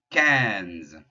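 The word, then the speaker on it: quinze: boating cat cat doors cans like you're trying to say 15 cans of soup on the wall q u is just going to be that k sound like it has been before i n there's your nasal you got an i followed by an in with no other vowel so ah and then the ze sound we've been saying a couple of times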